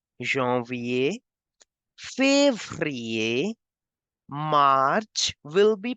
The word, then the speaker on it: février: In Feb, you can see there is accent as well as ER. So I have to make the sound of A twice. Janvier, février, March will be pronounced as Mars.